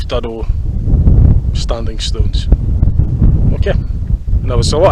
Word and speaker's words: Duddo: another wee very small village called Duddo, D-U-D-D-O. Now Google translated it to make sure I got the pronunciation right so it didn't sound ridiculous, something like Duddo.